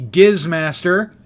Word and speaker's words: Gizmaster: My new hero, the Gizmaster, hard G.